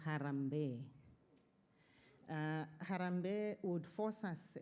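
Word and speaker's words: harambee: I thought it was harambe, but it's pronounced harambe.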